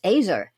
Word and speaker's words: ezer: the in the Hebrew the word is e-z-e-r it's pronounced azer and it's used most